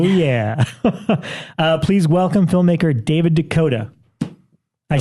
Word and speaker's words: DeCoteau: Please welcome filmmaker David DeCoteau. I said it correct, right? Hello. Yes, absolutely. Okay, because people DeCoteau. say your last name multiple ways. Yeah, I pronounce it like the state, Dakota.